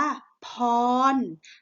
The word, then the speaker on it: พร: สะ ออน ไหม นะ แม่ ทำ นี้ อ่าน ว่า พร พร นะ คะ สะกด แบบ นี้ ค่ะ พ่อ นอน พร พอ น้อง พร ขอ พร